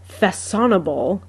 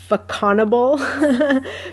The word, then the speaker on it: Façonnable: But she said the C with the tail is pronounced like a double S.